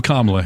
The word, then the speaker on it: Kamala: And it was clear he went right for his podium, and Kamala sought him out and made him shake hands. And I love that she introduced herself. Hi, I'm Kamala Harris.